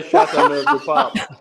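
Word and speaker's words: Châteauneuf-du-Pape: Please say Chateauneuf du Pape.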